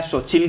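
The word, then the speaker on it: Xóchitl: la candidata de derecha que era Sochil Gálvez, se escribe TL, que es un fonema muy muy habitual en México, pero que para los que somos fuera de México no es tan normal.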